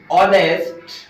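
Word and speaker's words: honest: रहा है एच से, लेकिन अगर इसकी प्रोनाउंसिएशन देखेंगे तो इसकी प्रोनाउंसिएशन ऑनेस्ट। तो ऑनेस्ट में साउंड आपकी किसकी आ गई है, ओ की साउंड आ गई है।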